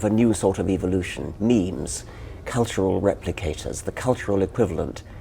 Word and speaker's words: meme: get natural selection going so I called it a meme so it doesn't exactly rhyme with gene that it's sort of you sort of shorten and sounds vaguely similar how did you feel